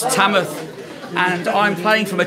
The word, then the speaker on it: Tamworth: are live from Tamworth Tamworth sorry Chamath I've got a fan I've got to forget that this isn't if you don't pronounce the W in Tamworth it's tamatha and I'm playing from